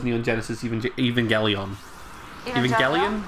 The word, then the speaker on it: Evangelion: Oh, when someone mispronounces Neon Genesis Evangelion. Evangelion? It's Evangelion. I know it's a hard G.